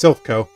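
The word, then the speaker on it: Silph Co: Yeah, it's Sylphco.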